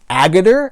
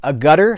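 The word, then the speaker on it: Agutter: cool show it had ginny agathor I believe is how you say her name a gutter some of us say or a girder anyway Logan's Run Jeannie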